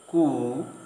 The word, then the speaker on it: coup: Again, sometimes P is silent in the middle of the word, as in the following words: receipt, coup, cupboard, raspberry.